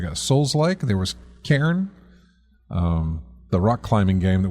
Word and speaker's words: Cairn: It sounds like I'm saying Karen, but it's Cairn.